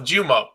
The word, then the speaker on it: Jumeau: I think in Australia it's Luke Jumeau is what it is. It's like a much more like a much less accented French way of pronouncing it.